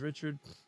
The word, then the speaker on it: Richard: I sent to Coffee, I see your name is Richard. My name is Richard, but it's Richard. Okay. It's how it's said in Louisiana.